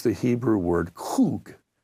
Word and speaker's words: kug: And the best way to spell it in English would be K-U-G or K-O-O-G, okay, kug, except the Hebrews had a at the beginning of it, and like they're going to clear their throat or something.